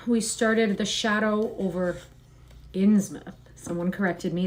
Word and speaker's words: Innsmouth: And yesterday we started the shadow over Inmouth. Someone corrected me. They told me that it's Inmouth, not Insmouth.